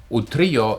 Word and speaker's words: Utrillo: Now, you might say, if I would have pronounced it Utrillo or maybe Utrillo, you might have recognized him, but Utrillo is the right way to pronounce it since it is a Spanish name.